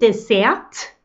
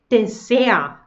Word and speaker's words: Dessert: Also wir sagen nicht Dessert, da ist kein T, wir sagen nur Dessert.